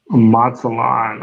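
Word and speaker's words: Mazatlán: So he says, what pronounce that? Mazatlan.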